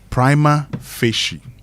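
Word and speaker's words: prima facie: "Okay, how about finding out how it is pronounced because like I've always said, we all learn every day." So, it's primma fishi.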